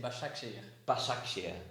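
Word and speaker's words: Beşiktaş: pronounce it okay so this is very simple actually we say bocce bash action I think it's the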